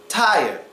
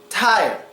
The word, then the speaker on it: tire: r and the E and how would you pronounce that tire tire tire when the r is stuck between the